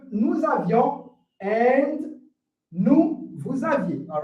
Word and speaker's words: aviez: So the difference here is in the spelling as well as in the pronunciation. Vous avez, without the I in the pronunciation, but here, vous aviez, all right? So you can see, I'm trying to make sure I pronunciate the I to make people understand that I'm talking with the past tense, all right?